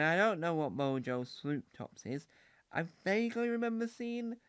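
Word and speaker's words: Swop Tops: Alpha Blocks, and Mojo Swoop Toops. Now, Swoop Toops is spelled S-W-O-P. Oh, Swoop Tops is what it is.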